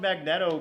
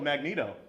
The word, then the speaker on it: Magneto: cool and I pronounced I even pronounced magnetto Magneto yeah I got it wrong again all right so